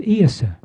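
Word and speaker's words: Íosa: Now, the interesting thing is that in Gallic, it's Iasa. It's spelled I-O-S-A. But all it is, it's the difference in the phonetics, the pronunciation of the phonetics and the inflection, Isa, Isa. So when they came to write down the Gallic pronunciation of Isa, they put an O in, I-O-S-A.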